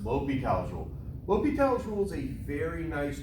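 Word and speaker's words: L'Hôpital: do is called l'hopital's rule not the hospital's pronounced lopi casual lopital tool is a very nice tool it's super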